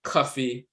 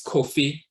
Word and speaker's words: Kofi: Abba Yaba you'll see in Jamaica they'll spell it coffee or coffee that's Kofi but they'll spell it c-u-f-f-e-e and